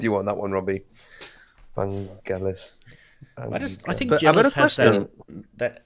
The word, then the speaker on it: Vangelis: A better question: where's the accent? Where's the stress on? Is it Vangelis? Vangelis? Vangelis? I think it's just it's penultimate syllable. Yeah, I think it's all equal. So it's Vangelis. Typical Greek sort of stuff. It would be all sort of equal.